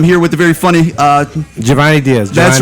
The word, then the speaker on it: Jhovany: name wrong man like I always feel like I want to say Giovanni well it's spelled wrong Jay HOV anyway that's not the right spelling yeah yeah my parents